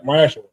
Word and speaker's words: ma'aser: Means 10% in Hebrew and it's pronounced ma'aser.